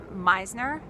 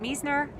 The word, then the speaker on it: Meisner: are always horrible but it's actually Natalie Meisner not Me's nur so I just wanted